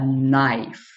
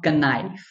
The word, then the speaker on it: knife: this word nice because even though it is starting from K it is a silent letter this word will not be starting from Kaka because it is a knife not connives if this word will